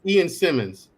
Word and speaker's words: Ian Simmons: Ian Simmons. That's how you pronounce that, Black Man Unfiltered.